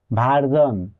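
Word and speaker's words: version: অথবা জি অথবা L letter থাকে তখন এর উচ্চারণ হবে ঝন যেমন ভারজন এখানে এস এর আগে আর আছে তাই এর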